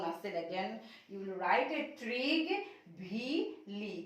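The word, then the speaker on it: Trygve Lie: Again you will write Trig V. Lee. কি লিখিবা? Trig V. Lee. Trig V. Lee. To uচ্চাৰণ pronounce কৰিবলৈ থোৰা অলপ difficult হ'ব পাৰে. So Trig plus V plus Lee এনেকে কৰি তোমালোকে উচ্চাৰণটো কৰিবা.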